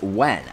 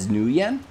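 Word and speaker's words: Nguyen: would have guessed that william says ng u ye n is pronounced as when I what language is that that is really cool I always soon assume that was just like a silent G because I'm stupid I guess I always pronounced it in my head I've never said it out loud before but always pronouncing on my head new yen but I okay when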